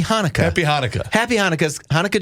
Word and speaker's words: Hanukkah: So, just in case you can't figure out what Chinooka is, he was attempting to say Happy Hanukkah.